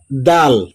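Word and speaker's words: دال: চলে আসি এটার নাম দাল দাল দাল দাল হ্যা এটাকেও টেনে বলতে হবে তিন আলিফ অনেকে বলে দাল জাল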